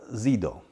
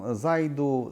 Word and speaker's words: Zido: których mówię jest firma Zido. No tu oczywiście jest problem wymowy, bo niektórzy mówią zaidu, zidu. Myśmy zdecydowali się na polską wymowę, a więc zido.